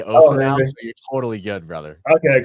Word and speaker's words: OSSA: video care sales and Assa um sorry I gotta start saying Osa the way it's pronounced right I I actually just changed we just made a global change to say o so you're totally good brother